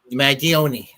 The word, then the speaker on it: Mangione: I certainly wouldn't have done what Luigi Maggi, I can never pronounce his last name. Mangione? Mangione.